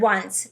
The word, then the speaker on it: once: In this case, we have the W, sound for that O, right? Really tricky word once.